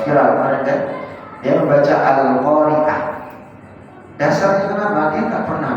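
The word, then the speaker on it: القارعة: Al-Qari'ah padahal pakai ain, bukan pakai hamzah.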